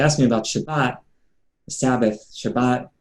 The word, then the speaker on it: Shabbat: me about shabbat sabbath shabbat where in yiddish ashkenazi pronunciation shabbos shabbat or shabbos is